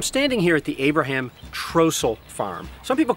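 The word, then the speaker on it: Trostle: How do we know Trossel is the right way to say it? I don't know. Well, there's Trossels around here living today. They all call it Trossel.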